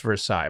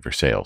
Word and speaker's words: Versailles: So, the hotel is in a charming historic downtown of Kentucky in Versailles. It's pretty should much should be pronounced Versailles, by the way. No, they actually passed a law naming it Versailles.